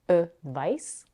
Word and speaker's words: advice: This is how we distinguish between the noun advice, which is pronounced with the voiceless consonant s at the end, advice, and the verb advise, that is pronounced with a z.